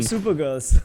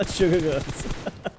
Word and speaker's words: SuperGirls: SuperGirls, not SugarGirls. We've been getting that name wrong a lot.